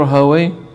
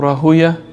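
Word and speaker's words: Rahawayh: Ishaq ibn Rahaway, or Rahuya, correct pronunciation of his name, right?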